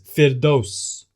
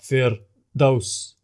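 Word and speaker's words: فردوس: The correct pronunciation is firdaus. The incorrect and common way to pronounce is to bounce or add the attribute of al-qalqala, vibration, bounce, or echo, due to not giving the Ra the attribute of at-tawassut, moderation. So wrongly it becomes firdaus, where there's a gap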